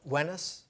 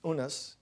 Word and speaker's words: Unas: Pyramid of uh of wenis w-e-n-i-s sometimes spelled and pronounced unas u-n-a-s is the first time